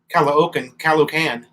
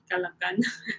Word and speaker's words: Caloocan: Yeah, when the O's are together, you have to pronounce both of them. I remember when I first met Melanie, I used to call Caloocan, Caloocan City.